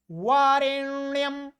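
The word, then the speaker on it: वरेण्यम्: बरन्याम बरन्याम, 'doctor' नहीं।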